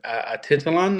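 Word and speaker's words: Atitlán: It's pronounced as a Titelon Lake and that was already like three and a half hours away.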